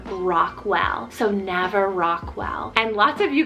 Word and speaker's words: Nava: Next up for the letter N, I have the name Nava, spelled N-A-V-A, Nava.